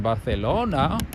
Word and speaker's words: Barcelona: Yeah, even people in Spain are like, especially in Barcelona.